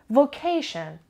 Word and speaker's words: vocation: lesson carefully location location it has three syllables and the stress is on the second syllable battle goblin betting go through that when we have tion or cion or s io n usually the stress is on the syllable before it vac ticket tion during